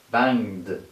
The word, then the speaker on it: banged: Okay, then I will pronounce ed after this way. Banged, banged, banged.